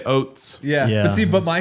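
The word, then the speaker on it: Ouzts: Tough to pronounce. O U Zts. Yeah, I would just say oats.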